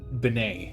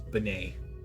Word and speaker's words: Binet: doing most of it or binay I think I think is what they uh how they pronounced his last name was benay which means it is French the French last name log in Helen Binet